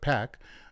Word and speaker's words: PAC: um and now uh founder of the anti-ionist super PAC uh or not super PAC but pack um as a pack is how you pronounce it.